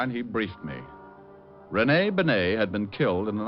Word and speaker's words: Bennet: It's pronounced Bennet, not Benny. That idiot was calling him Rene Benny.